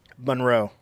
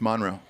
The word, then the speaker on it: Monroe: here which one you say this word monroe no it's monroe it's monroe that's how they pronounce it there are you do